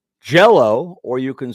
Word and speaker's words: Jell-O: word I can save the word jellow kids like that word jell-o well the gel is louder than the low jello i don't say